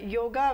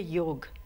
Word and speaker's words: योग: हाँ जी, योगा it's actually real जो इसका है प्रोनाउंसिएशन होती है योग, संस्कृत में इसको योग बोलते हैं, एंड वेस्ट में इसको योगा बना दिया है.